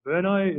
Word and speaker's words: Brno: I know how to spell it, but Brno, is that what you guys?